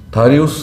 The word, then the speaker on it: 다리우스: 네, 다리우스 왕인데요. 다리우스. 영어식 발음입니다. 다리우스. 예, 원문에도 다리우스라고 되어 있어요. 예, 다리우스라고 읽으면 되는데 우리 전에 개혁성경에서는 다리오라고 이제 다리오라고 적어놨기 때문에 영어식 표현하고도 맞지 않고 원문하고도 맞지 않았습니다.